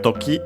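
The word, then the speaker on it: とき: Then we have toki, which means time. Should be accent on the last syllable, as it is.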